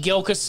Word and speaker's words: Gilkison: how do you say it and I said gilas and then she looks at me and she